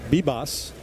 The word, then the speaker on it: Vivas: Your beat, B-Boss. How about that for a pronunciation? Outstanding by you. V-I-V-A-S, pronounced Vivas. B-Boss. B-Boss. Oh, really? Yep. V becomes a B.